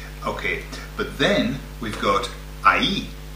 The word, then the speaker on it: ahí: Okay, but then we've got ahí. Ahí, okay, ahí, which is spelled A-H-I with a... with an accent.